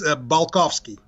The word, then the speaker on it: Balkovskiy: How do I pronounce it? Yes. Hi, James. Hi. It's Balkovskiy. Balkovskiy. Balkovskiy.